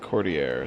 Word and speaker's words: Cordier: Yeah, he's told us to pronounce it Cordier, so I would have gone with Cordier as well. Yeah, it's, you know, French thing, I guess.